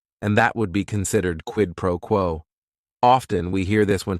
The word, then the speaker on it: quid pro quo: It is 3 words. Each word is only 1 syllable. And if you're saying it together, the stress is kind of on that first word and that last word, quid pro quo.